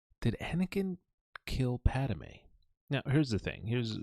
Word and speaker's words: Padmé: a like you say padame padame so just padame oh I see how it's pronounced so this conversation began uh a couple